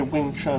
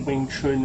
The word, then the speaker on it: Wing Chun: in Wing Chun, okay, Wing Chun or Wing Chun or Yung Chun, however you want to pronounce it.